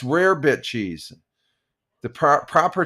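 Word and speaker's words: rarebit: Hey, deplorable rabbit cheese sounds odd. Yeah, it's rare bit cheese. The pro proper pronunciation is rare bit cheese.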